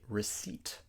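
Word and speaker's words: receipt: in this word psychology another word with a silent p is receip do not say rece we have to say receip the p is silent and Castle lots of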